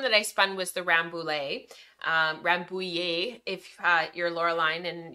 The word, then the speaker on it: Rambouillet: Rambouillet. I need to like have a lesson with her of like how to say it exactly. So Rambouillet, actually I have my skein right here, so let me grab it.